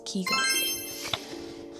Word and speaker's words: Caulker: So I traveled to Belize City, San Pedro, and Caulker. Well, it's not Caulker, it's Caulker.